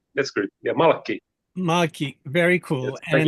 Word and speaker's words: Malkki: Excuse me if I mispronounced Yes, your name. that's good. Yeah, Malkki. Malkki, very Yes, cool.